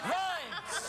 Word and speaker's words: Rimes: Got a sign for LeAnn Reams because she's coming out right now. Rhymes! Dido, Dido, Reams, Rhymes. Regis, it rhymes with rhymes.